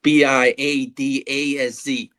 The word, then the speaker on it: Biadasz: Biadasz, I have to learn how to say his name properly. It's Biadasz, but I'm just going to call him the Badass.